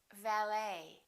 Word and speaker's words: valet: Valet.